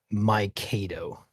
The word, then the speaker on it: Mikado: Also, the chat wants me to let you know that it's pronounced Mikado.